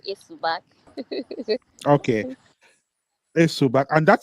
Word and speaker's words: Esubag: s subac is it a subac did I pronounce it properly yes it's called a subac okay so and that sounds that sounds bakosi